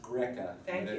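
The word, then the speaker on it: Grzeca: That's pronounced Greca.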